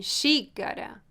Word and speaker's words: xícara: Sh, como em xícara.